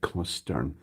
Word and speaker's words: Costin: It's pronounced like Costern.